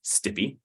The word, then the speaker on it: STPI: Technology policy Institute stpi or as we as we pronounce because we like to pronounce acronyms stippy looking for agreement with